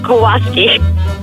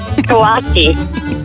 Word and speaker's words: Kawasaki: My partner has a Kawasi. Kawasaki.